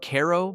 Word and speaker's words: Cairo: Cairo, pronounced Cairo by locals, sits at the very tip of Illinois where the Ohio and Mississippi rivers meet.